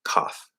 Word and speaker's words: cough: And then cough, spelled with a C, but it's a K sound here. So we're going to push out that K, back cough, okay?